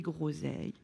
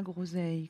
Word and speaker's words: groseille: Et des groseilles. Et des gros. Donc, le G devant la consonne se prononce G.